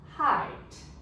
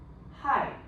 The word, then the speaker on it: height: Height. H. E is silent. The E is silent here. No sound. 没有声音。IGH. Long I. Remember? IE, IGH. I space E. We say long I. TT. T. Height. Height means centimeters.